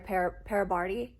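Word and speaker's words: parabatai: them mess up their parabardi is how you say it pair of body pair body um i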